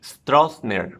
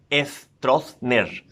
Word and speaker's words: Stroessner: For example, ST, Stroessner, for example. The tendency is to force that word into the Spanish phonology and pronounce it Stroessner, like that.